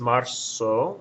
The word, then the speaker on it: marzo: Z to an S because it's pronounced marzo with a sound, so they think it might be an S, but the letters Z and S share the same sound in Spanish, so you just need